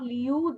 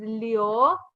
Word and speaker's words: liu: Just like this is not liu. This is leo.